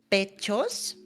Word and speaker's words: pechos: You can say pechos.